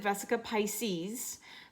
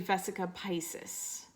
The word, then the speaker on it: vesica piscis: called vesica Pisces and a lot of people pronounce it vesica Pisces but it's actually vesica Pisces and this is supposed to show us the